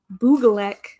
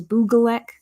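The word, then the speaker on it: Bygglek: on the Boogalek sets, which that is how I believe you pronounce it because it's how Tiago Catarino said it, and also makes sense because it's a Swedish word. And there is a Swedish word for design called hygge, and it's spelled very similarly to Buglek. So we believe that the pronunciation that is correct for that is Buglek.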